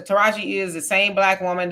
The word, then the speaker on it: Taraji: Taraji, Beyonce, Chiquaqua.